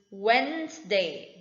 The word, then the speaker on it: Wednesday: not wet it is wednesday just like men's day wednesday d is silent because it comes before the letter n next we have the